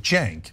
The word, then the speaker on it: Cenk: You see, Ana said Recep Tayyip Erdoğan because the C is pronounced like a J. That's why my name is C-N-K, but Cenk right.